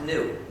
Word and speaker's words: gnu: in countless wordplace because according to the dictionary the g is silent and it's pronounced new so every time you